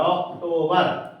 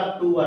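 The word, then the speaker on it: October: सीटी ओ बीई आर ऑक्टोबर क्या पढ़ते ऑक्टो बेर लिखा है इधर ऑक्टो बेर बेर ही लिखा है ना बीई आर बेर तो ऑक्टो बद मतलब जैसा खा वैसा हमने य उच्चारण कर दिया इसका होता है आपका अक्टूबर अर्थात आपका अश्विन नीचे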